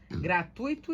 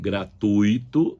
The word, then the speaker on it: gratuito: Gratuito e fluido. Gratuito e não gratuito, como se fala por aí.